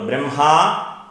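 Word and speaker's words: ബ്രഹ്മാ: എന്ന് നോക്കാം ഗുരുർ ബ്രഹ്മ അപ്പൊ ആദ്യത്തെ ബ്രഹ്മ ഈ പദത്തിൽ ബ്രഹ്മ ദീർഘമുണ്ട് അപ്പൊ ഗുരുർ ബ്രഹ്മ അടുത്തത് ഗുരുർ വിഷ്ണുർ അടുത്തത്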